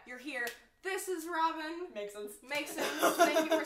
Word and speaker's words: Meiksins: Meiksins. Thank you for saying your last name for me because I would have butchered it.